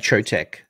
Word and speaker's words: Chotec: light of Charlie yeah I pronounce that trotech okay light of chotec um I think that